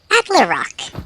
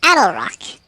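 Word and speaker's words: Attlerock: That's apparently pronounced Adlerock, not Adelrock.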